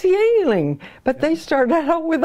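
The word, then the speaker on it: Yuengling: Not the Chinese beer that's pronounced Yingling, but... Yeah, this is Y-E-U-N-G-L-I-N-G. Yeah, Y-U-E-N-G, Yingling, L-I-N-G. And I used to laugh because people here didn't know how to pronounce it. I said, that's Yingling.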